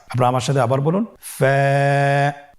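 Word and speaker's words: ف: হরফ আমরা দেখতে পাচ্ছি আপনারা আমার সাথে বলুন ফা কফ কাফ লাম মিম নুন ওয়া হামজা ইয়া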